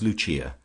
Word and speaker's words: Lucia: of her subjects as Luchia, pronounced of course in the Italian mode luchia, the wife of Lucas.